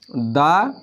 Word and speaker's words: the: বর্ণে যদি কনসোনেন্ট থাকে তাহলে তার আমরা দা উচ্চারণ করব আর যদি ভাওয়েল থাকে আর যদি ভাওয়েল থাকে যেমন দা অরেঞ্জ এখানে দেখেন এখানে টিএসসি এই শব্দটার পরে